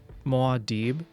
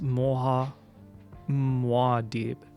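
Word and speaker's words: Muad'Dib: Moad. It's pronounced Moa. Madib. Okay. More deep.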